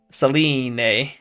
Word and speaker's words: Selene: Alright, next we have 3/2 Selene. That's how it's pronounced in the katakana.